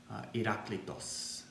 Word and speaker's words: Heraclitus: The name is Heraclitus, Heraclitos. I understand his Greek pronunciation.